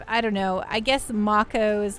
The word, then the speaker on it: Mako: I pronounced it Mako for so long.